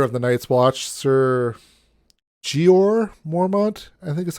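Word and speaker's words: Jeor Mormont: the Lord commander of the knights watch sir gor Mormont I think is how you say it g gor Mormont yep yep who actually we find out later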